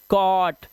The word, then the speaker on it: cot: वैसे ओ, जैसे COT, अभी से पढ़ेंगे आप, कॉट, फॉग, हॉट, टॉप, पॉट, लॉग।